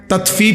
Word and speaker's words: তাতফিফ: এটা একটা গুরুত্বপূর্ণ বিষয় তাতফিফ শব্দের অর্থ হলো তাতফিফ বাংলা শব্দটা বুঝছেন উচ্চারণটা ত আকার তা তত ফ দীর্ঘিকার ফি ফিফ এই তাত ফিফ এই হলো শব্দটা অর্থ হইলো প্রথম অর্থ হলো